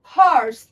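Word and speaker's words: horse: কিন্তু এখানে লক্ষ্য করুন, হি হ্যাজ এ হর্স, হর্স আমরা কিন্তু এইচ উচ্চারণ করছি, এখানে কিন্তু আমরা ও উচ্চারণ করছি না আগে।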